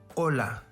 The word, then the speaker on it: hola: letters with unique pronunciations h is always silent in spanish example hermana hola this letter has an